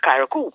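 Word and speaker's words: Carriacou: Because C-A-R-R-I-A-C-O-U is Karakou.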